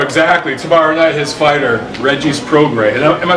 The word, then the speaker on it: Regis Prograis: Tomorrow night, his fighter, Regis Prograis. Am I saying that? Is it Prograis? It's Regis, like the high school I went to. Like St. Regis. I've heard Regis Prograis. It's Regis Prograis.